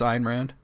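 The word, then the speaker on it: Ayn Rand: were today years old when you learned it's IR Rand it like last week years old basically all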